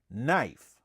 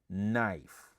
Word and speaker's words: knife: We just say knife. Okay? Okay, we just don't pronunciate the K word. All right, we just say knife. The letter K is silent.